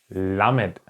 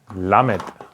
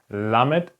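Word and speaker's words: למד: let's start with the 12th consonant it's called lamed lamed okay that's how you write it lamid or if you do it in writing form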